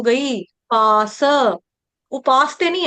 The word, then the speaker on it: उपासते: में क्या हो गया स आपने आधा कर दिया स आधा नहीं है उपासते सते सते स पूरा हम जब कहते हैं कि पार्वती माता सती हो गई सती में स पूरा बोलते हैं ना सती हो गई